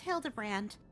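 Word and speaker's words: Hildibrand: It's pronounced Hild de Brand.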